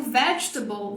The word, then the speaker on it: vegetable: É a parte que dá vontade de pronunciar como table, e que não é table, é table. Igualzinho.